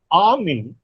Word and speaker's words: army: Now in army, there are two puffs, A and me.